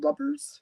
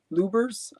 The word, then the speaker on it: Lubbers: You know, this is, I think this is Lubbers, Lubbers. Or Lubers. I don't know. I always say lubbers, as in rubbers with an L, but it's I think it's pronounced lubers.